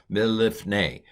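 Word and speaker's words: מִלִּפְנֵי: So mil, lif, and if you can, you should pronounce the lamed twice. It's hard for us English speakers, but mil, lif, ne. Kind of hold the lamed a little longer.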